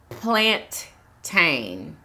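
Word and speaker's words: plantain: the ever curious Jin says hi it's actually pronounced plant tain really plant tank okay Sheila mantis I really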